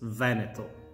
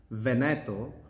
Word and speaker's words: Veneto: how do you pronounce veneto well the correct pronunciation is with an accent on the first e so it's veneto because if you make